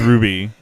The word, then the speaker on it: RWBY: called Ruby RWBY Ruby I think that's how it's spelled I just asked if the name yes the name is Ruby uh spelling it in case our listeners would